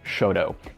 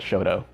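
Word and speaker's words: Chouteau: i-44 truman parkway and shoto and yes that is how people pronounce it here in st louis we call it shoto so like i said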